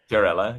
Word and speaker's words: Chiarella: I'm here with Chirella. Did I pronounce it well? Chirella, yeah, or Chirelli.